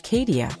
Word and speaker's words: Kadecia: To be clear, the pronunciation is Kadecia, sometimes referenced online in different variations, but the central figure remains the same.